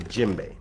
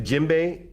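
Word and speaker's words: djembe: to you a lot about is called the jimbei now the jimbei is spelt d j e m b e this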